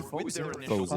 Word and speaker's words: Posey: Posey, that's how he told me to pronounce it. I'd go Fizzy. Fizzy. I was saying Fizzy.